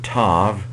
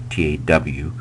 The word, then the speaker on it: Tav: me Ken so Tav or in older older Hebrew grammars they might have said to t a w um but going with modern Hebrew pronunciation I'm going to say Tav it is transliterated with